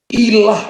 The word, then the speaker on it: ilah: Jangan ada padamu ilah lain di hadapanku. Kalau Bapak Ibu lihat Alkitab Bapak Ibu, kalau ada tulisan Allah kecil, maka jangan baca Allah lagi. Bacanya ilah.